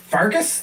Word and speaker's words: Pfarcus: I'm your host, Pfarcus. The P is silent.